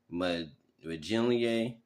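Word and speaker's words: Monangai: Then the Eagles had a a combine meeting with Ruckers running back Kyle Minier. That's how you pronounce his name.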